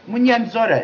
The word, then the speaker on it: Mwonzora: I'm not even going to try Mwonzora.